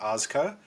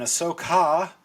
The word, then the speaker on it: Ahsoka: mispronunciations here and there I've been trying not to call it Oscar because that just rolls off the tongue so nicely and Ahsoka like Leviosa uh but um I'm